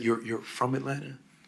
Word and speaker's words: Atlanta: Uh uh yeah, I was um I was born and raised in in Atlanta, you know, where the T is silent.